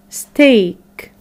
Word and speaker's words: steak: has three different sounds the third the sound is when we have the e a letter pattern when we have the e a letter pattern making the sound of the long vowel sound a a like in break great steak okay so let's answer